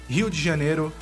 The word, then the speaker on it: Rio de Janeiro: as a Brazilian myself, it feels really weird to say it like English-speaking people would, but in case you're curious, Rio de Janeiro is how we say it.